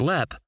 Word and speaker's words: Leap: You might be asking how the castle got its name, because while it's pronounced Lep, when viewed in English we would say Leap.